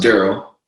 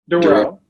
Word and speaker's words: Durryle: podcasts um wait you're so uh so it's pronounced Darrell Darrell Darrell so uh Darryl is on the